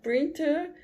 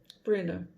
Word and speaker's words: printer: tá não pronuncia então ao invés de falar printer você vai falar player o senhor prender prender pena a impressora em